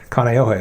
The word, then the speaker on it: Kaneohe: Hawaii and yeah that's how you say it Kaneohe I should know I used to live in